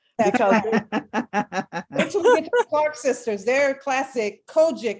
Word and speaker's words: COGIC: clark sisters their classic kojic is what they call it chris yes they're cogic is how they pronounce it so on